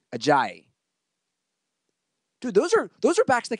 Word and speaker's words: Ajayi: You remember last year they had Blunt and how do you pronounce his name? Ajayi.